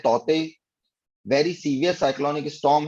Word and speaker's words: Tauktae: Cyclone तौते, तौते जो spelling है उसको प्रोनाउंस करते हैं तौते।